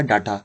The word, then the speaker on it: data: DATA लिखा जाता है, जो कि पढ़ने में कुछ इस तरह से लगेगा डाटा, बट इसको हिंदी में जो है डेटा प्रोनाउंसिएट किया जाता है। तो इंग्लिश में इसे डाटा लिखा जाता है और हिंदी में इसे डेटा पढ़ा जाता है, यानी कि हिंदी में इसका प्रोनाउंसिएशन डेटा किया जाता है।